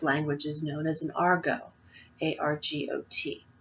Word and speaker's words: argot: And this type of language is known as an argot, A-R-G-O-T. The T is silent.